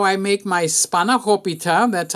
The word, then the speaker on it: spanakopita: This is how I make my spanakopita.